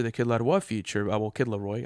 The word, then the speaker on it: The Kid Laroi: Well, Kid Laroi, I say it like that because, you know, the French accent from Montreal.